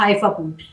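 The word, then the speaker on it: حيفا: अब हफा ऐसी है जिसको जफा बोर्ड भी लोग अक्सर कहते हैं। मगर जे की साउंड अक्सर जब आप अरेबिक में नाम प्रोनाउंस करते हैं तो it goes for एच इट्स not like actually मतलब वो जीम की आवाज नहीं आती।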